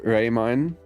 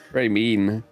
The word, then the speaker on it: Raemyne: works it's not right Ray mine is the correct way to say it I get pissed when people call me raymin Ray mean how about a I get rather like Ramen or lemonade so much well I